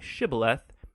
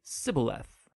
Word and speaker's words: shibboleth: turned out that the ephraimites had grown up pronouncing that word differently so instead of saying shibboleth they would say sybileth when that happened the gilinite guard would execute